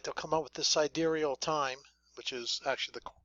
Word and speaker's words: sidereal: real fast, like they'll come up with this sidereal time, which is actually the correct way to pronounce it.